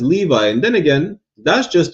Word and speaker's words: Levi: That's not how you pronounce it. What do you mean? What the hell is a Levy? First of all, if you read it the way it says, it says Levi.